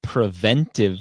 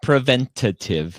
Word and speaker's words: preventive: say it right right it's preventive medicine not preventative medicine so i always that's